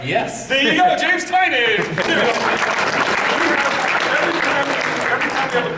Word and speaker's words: Tynion: way from now on we will officially say James's last name is tining we're going to leave